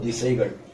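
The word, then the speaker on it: திசைகள்: D Sai Ga Il. It is called Disaigal.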